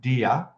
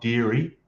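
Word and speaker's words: Deere: I think it's pronounced Deer, as in D-E-E-R-E, not Deary, Deer.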